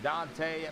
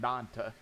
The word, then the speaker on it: Dante: Carroll, Raymond Bell, and Dante McMullen. I'm just going to call him Dante because I believe that's how you really pronounce it instead of Dante. I believe it's Dante.